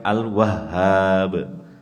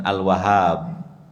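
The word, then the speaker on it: الوهاب: Memang agak sulit karena huruf H di tasydid kemudian dikasih Alif jadi Sudah tasdid ditekan kemudian dipanjangkan sedikit tapi kita berusaha untuk mengucapkannya dengan benar karena nama Allah itu dengan bahasa Arab itu bahasa Arab kan panjang pendeknya ada tasydid atau tidak harus pas dibacanya sebab kalau tidak ya maknanya berubah ini agak sulit kan Al wahhab bukan Al Wahab haknya itu di tasydid dengan mengucapkan Al wahhab ini haknya ini di tasdid Rabbana wahablana Nah itu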